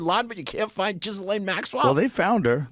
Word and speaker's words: Ghislaine: It's like, I just call her Gasoline because I hate pronouncing her first name. Ghislaine. Ghislaine.